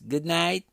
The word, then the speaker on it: good night: O D de good quase não é pronunciado praticamente, e o T de night muito menos.